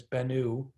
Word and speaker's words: Bennu: which is at the asteroid bennu many people mispronounce it as bennu but it's bennu maybe you've heard about the so that's a